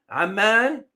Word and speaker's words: Amman: Amman, don't confuse this with Oman. The pronunciation is very different.